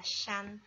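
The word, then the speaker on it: 山: Contoh yang keempat itu bacanya adalah shan.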